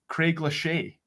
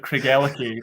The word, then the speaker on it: Craigellachie: say right as well one of my favorite examples of that was someone saying oh i thought it was a french brand craig lachey which was my favorite way i've ever heard kriegelkie pronounced uh as well i